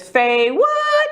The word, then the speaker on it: FayWhat: say um my show my name is Faye what and we say it like that okay say what so